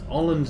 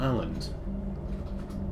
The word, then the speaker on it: Åland: too much today yourself it's åland not island and I'm pronouncing wrong both times anyway I mean